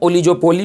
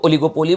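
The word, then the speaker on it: oligopoly: ओलिगोपोली, पहली बात कि इसको हम ओलिजोपोली नहीं पढ़ते हैं, तो मेक श्योर कि तुम इसको प्रोनाउंसिएट सही से करना। इसको ओलिगोपोली बोलते हैं।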